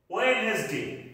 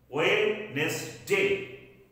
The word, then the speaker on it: Wednesday: This D will not be pronounced in the word. Ei shobder modhe D ta uchcharon hobe na. Wednesday. Wednesday, this is wrong. Wednesday.